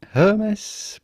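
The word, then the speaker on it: Hermès: jean-paul gaultier it'd be okay to say hermes but do not insist on the h which is not really pronounced in french so do not necessarily say hermes but rather hermes the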